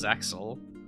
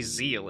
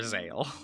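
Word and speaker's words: Zexal: For one thing, they decided to pronounce it as Zexel. I'm like, you know that they say Zeal in Japanese, right?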